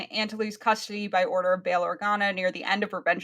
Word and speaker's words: Bail Organa: It's spelt Baal, but I don't think it's pronounced Bail. like that. Bail Bail Organa. Organa. Yeah. Yep. It is pronounced Baal? It's Okay. Bail. Yes. Yeah. So, put in Antony's custody by order of Bail Organa near the end of Revenge of the Sith